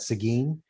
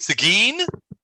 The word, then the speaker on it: Seguin: And by the way, for those of us from Texas, we pronounce that Seguin. what? Seguin, Do you guys, there's a town in Texas called Seguin.